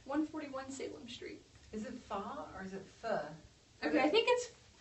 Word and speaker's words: pho: There's going to be jump rope, you can learn how to throw a spinning top, make pho, that delicious Vietnamese soup.